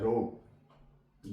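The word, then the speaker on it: rogue: है इसे पेंगे ड रोग आर ओ जी यू ई यू के बाद ई आ गया यू यहां प साइलेंट है रोग गेस्ट जी यू ई एसटी अब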